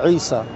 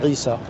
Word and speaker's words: Isa: Okay, so, but when we say Jesus, obviously Jesus is the European pronunciation of Isa, as the Quran calls him Isa.